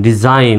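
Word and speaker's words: design: শব্দের শেষে যদি IGN থাকে, শব্দের শেষে যদি IGN থাকে তার উচ্চারণ হবে আইনের মতো। তার উচ্চারণটা কেমন হবে? আইন, অর্থাৎ এখানে জি এর উচ্চারণটা সাইলেন্ট হবে। তো শব্দের শেষে দেখেন তো IGN আছে নাকি? IGN আছে, তাহলে এই IGN থাকলে কেমন উচ্চারণ হবে? আইন হবে। তাহলে DEDSIGN, আইন, ডিজাইন, অর্থাৎ উচ্চারণটা হচ্ছে ডিজাইন।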